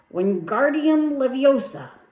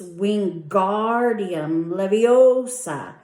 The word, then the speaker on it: Wingardium Leviosa: "Wingardium Leviosa," he shouted, waving his arms like a windmill. "You're saying it wrong," Harry heard Hermione snap. "It's Wingardium Leviosa. Make the gar nice and long."